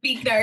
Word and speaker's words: Buechner: Yep, Buechner.